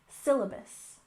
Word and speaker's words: syllabus: next we have syllabus with emphasis on the first syllable syllabus syllabus and this is the